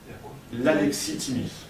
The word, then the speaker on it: alexithymie: L'alexithymie. Ça s'écrit. Comme Alexis et Thymie, T-H-Y-M-I.